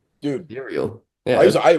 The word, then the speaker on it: Ethereal: Is it Ethereal?